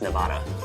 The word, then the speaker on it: Nevada: It's a Spanish word, probably, which is supposedly supposed to be pronounced Nevada.